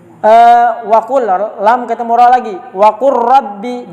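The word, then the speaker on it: وقل رب: Waqur rabbi, jangan waqul rabbi, lamnya tidak dibaca.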